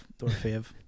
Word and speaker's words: Dorofeyev: Dorofeyev.